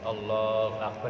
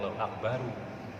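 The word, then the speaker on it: الله أكبر: Takbiratul ihram diucapkan, dilafadzkan, dan wajib mengkhafatkan huruf ra-nya akhir. Allahu Akbar. Walaupun dalam susunan kalimatnya sebetulnya tidak mati, bisa akbaru. Tetapi dalam takbiratul ihram ini spesial ra-nya dimatikan. Jadi Allahu Akbar jangan Allahu Akbaru.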